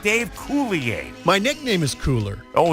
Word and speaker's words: Coulier: Now, Dave, I've got a problem because he told me, Baby Huey, how do you say his last name? Coulier. It's Coulier, right? Yes.